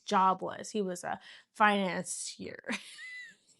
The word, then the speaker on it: financier: He was a financier. How do you say it? Finan- I'm sorry. Ow! How do you say it? Financer.